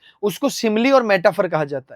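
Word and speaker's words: simile: इसका जो उच्चारण है वह सिमली होता है।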